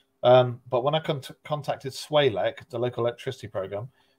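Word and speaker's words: SWALEC: But when I contacted Swalek, the local electricity program, which he pronounces contemptuously to rhyme with bollock, swallock, I can see that.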